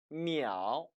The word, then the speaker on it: 秒: 하지만 여기에서 한글은 초, 치읓 발음인데 반해 중국어에선 미ao, 미음 발음이 된다는 것.